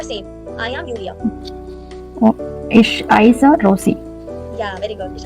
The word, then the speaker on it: heiße: Ich heiße. So that beta sign I'm talking about earlier is that beta. This beta sign is pronounced as double S in a word.